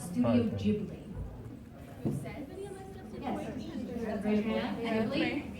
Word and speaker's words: Ghibli: But it was taken from Italian, and the correct Italian pronunciation is Ghibli.